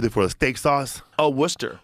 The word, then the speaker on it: Worcester: that the you it for steak sauce oh Worcester Worcester yeah yeah it looks weird I was 2010